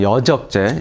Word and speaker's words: 여적: 지금 저는 뭐 그런 경험에 대해서 말씀드리는 건 아니고 그 내란 업모나 이제 선동 여적 아까 이적제가 아니라 여적죠. 정확한 발음은 여적 이런 부분들을 지금 박 대표님은 마치 기정 사실화 된 것처럼 말씀하신단 말이에요.